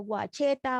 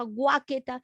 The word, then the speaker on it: Guachetá: en la universidad porque me pronunciaba mal el apellido guachetá guáqueta yo no soy entonces cuando llegó al